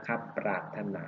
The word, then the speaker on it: ปรารถนา: ก็ เป็น ป ออ อ่าง ปราบ นะ ครับ ปรารถนา นะ ครับ คำ นี้ ต่อ ไป คำ ต่อ